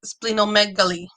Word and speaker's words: splenomegaly: It's another herb used in treatment of liver cirrhosis and splenomegaly. I YouTube that to make sure I would say it right. It's splenomegaly.